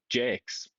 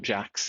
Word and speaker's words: Jax: Apparently his name is also Jakes, Jason Jakes, not Jax, even though it's spelled like Jax.